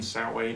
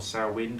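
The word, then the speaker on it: Samhain: all closely associated with Sam Hayne sa way or sawin depending upon who's pronouncing it at the time the start of the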